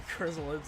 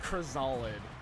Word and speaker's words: Chrysalids: of the dark tornament the chrysalids out every said Crizal lid when I was younger I guess that's the wrong pronunciation God his face my